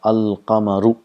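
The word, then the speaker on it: القمر: So in the rest of the words, the lam is pronounced, and the lam and the letter next to lam both are pronounced. If you see here, if we have a word qamarun, if we add al and qamar, it becomes al qamaru. The sound of lam is also produced.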